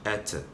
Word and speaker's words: hätte: Donc ici, nous allons dire ich hätte, du hättest, er, sie, es hätte. Ok? Wir hätten, ihr hättet und sie hätten, tout simplement. Donc ici, c'est la prononciation qui doit changer à cause du A tréma.